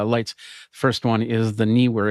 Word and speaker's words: Neewer: And then Neewer is working on putting together, yeah, that's how you say it, Neewer.